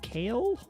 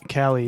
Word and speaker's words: Kailh: I think it's pronounced Kale or Kali. No idea. Box white keys. I think Cali is what I've heard people say. Cali. Yeah. Like Calico Cat. Because it's Kahli, right? Kailh.